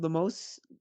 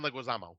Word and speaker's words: Leguizamo: Now, John, I always say his name wrong. Lemos, he was recently in The Menu. John Leguizamo.